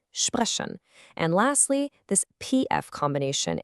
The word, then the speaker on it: sprechen: Same idea for sp, it's pronounced sp, like in sprechen.